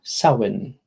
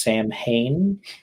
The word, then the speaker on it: Samhain: Or for others, celebrating Samhain, which I originally thought was pronounced Sam Hain, but it's spelled that way. Pronounced Samhain. Classic Gaelic.